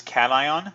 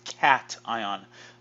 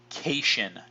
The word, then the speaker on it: cation: there's two types there's cation this is pronounced cat ion not keishon do not pronounce occasion